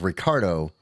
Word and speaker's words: Ricardo: So what if I start introducing myself as Ricardo, but the white man calls me Ricky? Because that's not really what he said. It was more or less he said his you'd have to roll your R, but you'd have to roll your R.